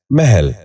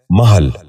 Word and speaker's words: محل: محتسب۔ آٹھواں لفظ ہے محل۔ یہ غلط تلفظ ہے، درست تلفظ ہے محل۔ درست تلفظ ہے محل۔